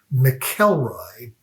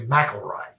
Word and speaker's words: McIlroy: Rory's amazing feat and in my head pronouncing his last name Mckelroy and being surprised two years later when he um played in the British Open at at Carnisti that it was actually Mroy.